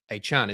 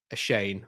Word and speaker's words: Achane: So I've I had a look it's I'm mis- I've been mispronouncing his name for so long. It is Devon Achane isn't it? So it's not a Shane whatever I was saying.